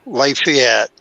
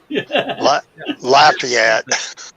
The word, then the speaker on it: Lafayette: Biloxi originally so I'm used to hearing the New Orleans style pronunciation for it so I got a lot of crap when I came here to Tennessee and I called it Lafayette and Stephanie John placed